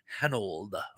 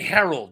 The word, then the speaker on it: Hanold: Uh, B, Carol Lley, C, Sue Lion, or D, Hanold. And I hope I'm pronouncing your name right. I keep wanting to say Harold, but it's not. It's Han old, not Harold.